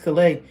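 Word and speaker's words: Callais: That's the French saying of it. It's it's C A L L A I S but it's pronounced Louisiana versus Klay where the Supreme Court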